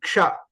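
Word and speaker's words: क्ष: So ksha is a combination of k, sh, and a. So when you add all these things, so when you pronounce, we have to remember this k, sh, a, ksha.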